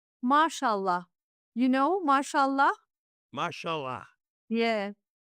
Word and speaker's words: Mashallah: But uh it's it's called SH on our uh Turkish.